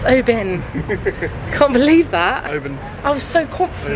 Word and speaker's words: Oban: And yes, I'm now going to correctly pronounce it. Oban. Benj, we haven't talked about the fact we've been calling it Oban.